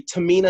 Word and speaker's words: Tamina: And you want to pronounce her name for us? Would that be Tamina? That would be Tamina Snuka.